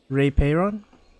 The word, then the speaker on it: Rei Peiron: Rei Peiron? Yep. That's how you pronounce it.